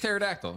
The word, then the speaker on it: pterodactyl: Yeah, it's got a P in the fucking beginning of Like a it. pterodactyl. Yeah, the P silent.